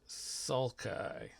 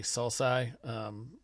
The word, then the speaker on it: sulci: the valleys in between those are pronounced sulci some people say salsa will go with sulci here we have the